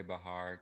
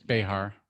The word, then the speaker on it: Behar: the view erupts when joy bahar tells behar behar yeah she's very offended if you don't say it right i'm gonna say it